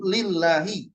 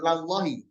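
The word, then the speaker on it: لِلّٰهِ: Artinya aslinya adalah li. Maka disebut lillahi, bukan lallahi. Nah, gitu ya.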